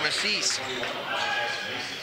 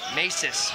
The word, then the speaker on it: Masis: I just heard the PA announcer, it's Masis. Masis? So we will use that from here on out. I'm sorry for the mispronunciation.